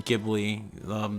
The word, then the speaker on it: Ghibli: Which Ni no Kuni, you might remember because Studio, I'm going to probably say it wrong, Ghibli, the Miyazaki, that's how you say his name, the person who made Spirited Away, Kiki's Delivery Service, yada yada yada, that director.